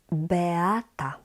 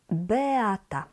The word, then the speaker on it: Beata: And in Polish, the I, A, we pronounce as ea, ea.